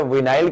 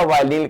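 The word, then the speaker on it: vinyl: तो चाहे विनाइल कह लो या वाइनिल कह लो, अपना अपना प्रोनाउंसिएशन है।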